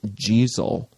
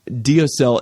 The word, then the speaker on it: deosil: It's actually pronounced Jeezel, but nobody will know what the heck you're talking about if you say, "Oh, are we going Jeezel?" They'll say, "What?" Deosil is how it's spelled. So most people, English-speaking people, will say deosil, but the Gallic is pronounced Jeezel.